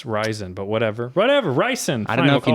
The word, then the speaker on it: ricin: president Trump with homemade ryzen which I think I don't know if that's how it's pronounced are you sure you haven't watched Breaking Bad suck my dick it's ricin ah they might pronounce it